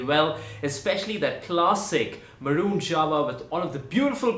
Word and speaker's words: Jawa: Republic brand is not Java but it's supposed to be Java yes you heard me right the J is supposed to be pronounced as yah but of course when